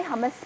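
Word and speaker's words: hummus: आ जाती हूँ हमारे हमस पे. हमस भी कह सकते हैं, हुमस भी कह सकते हैं, दोनों प्रोनाउंसिएशंस जो है वो बिल्कुल सही हैं.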